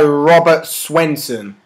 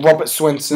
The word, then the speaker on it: Robert Swenson: Okay, with regret, I talk about Bane, played by Robert Swenson.